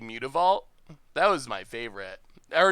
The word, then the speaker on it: Mutavault: it's all creature types, so it's like a mixed breed, a mutt, Mutavault. So I still think that is how it should be pronounced.